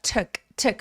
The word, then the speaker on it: took: 자, took 할 때 툭 우돌리 아니고요. 우리 말에하고 비슷하게라고 해 주세요.